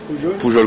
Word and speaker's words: Poujol: Poujol, comme ça s'écrit.